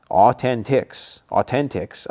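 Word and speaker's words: AU10TIX: Authentics, okay, like authentic, Authentics.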